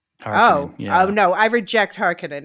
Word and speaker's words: Harkonnen: So it's Kynes and it's it's Harkonnen. Harkonnen, Oh no, I reject Harkonnen.